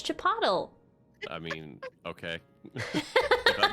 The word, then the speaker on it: Chipotle: Bottle.